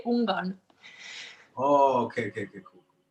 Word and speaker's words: Ungarn: But we say Ungarn. Ungarn. What? Wait, what? What did you say? What did you say? Whoa. What did you say? I said in Norwegian we say Ungarn.